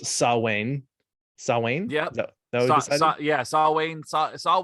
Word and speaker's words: Samhain: have uh something that looks like it should be pronounced samhain but because it's gaelic it's pronounced sawwain sawwain yeah saw wayne